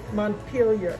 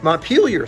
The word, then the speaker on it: Montpelier: So number one, how do you say the name of the state capital? Montpelier. Montpelier. See, I was even wrong. I was Montpelier or Montpellier. Yes. Right, yes. Montpellier for the French.